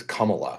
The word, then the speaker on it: Kamala: I think it's Kamala, like Kamala. Kamala. Like C-O-M-A.